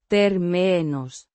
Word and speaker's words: términos: means terms or conditions pronounced terminos with a stress on the second syllable It refers to conditions, agreements or stipulations.